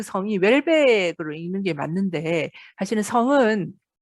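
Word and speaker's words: Houellebecq: 말든 웰벡 이거든요 그래서 웰벡 으로 발음을 하는데 어 일단 우리나라에 번역본이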